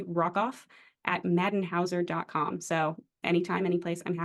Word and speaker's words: Rockoff: my firm's website uh my last name is spelled exactly how it sounds Rock off r o c k f so if you do